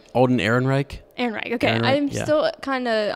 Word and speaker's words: Ehrenreich: I don't know how to pronounce his last name. Alden Ehrenreich. Ehrenreich.